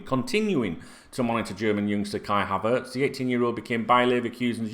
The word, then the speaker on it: Kai Havertz: And I'm going to talk to you about Kai Havertz.